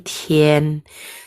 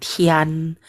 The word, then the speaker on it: tian: Oke, ini tien. Tien ya, jadinya ya. Seakan-akan jadi nada huruf ada huruf nya. Tien, tien bukan tian. Tulisannya tian, T-I-A-N, tapi bacanya tien, tien ya.